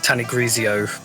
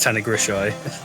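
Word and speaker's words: Tanygrisiau: like the the anglicization of it is like tanigrisio but ah the official pronunciation is Tony grishai cool I I haven't named a locomotive this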